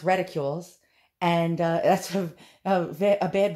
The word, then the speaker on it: reticules: as uh reticules i used to call them reticulaes but uh it's pronounced ridicules and uh that's a bad word for a